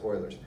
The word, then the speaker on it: Euler: just standard Euler's identity it's spelled eul all right not a lie boilers identity pronounced boilers now when you think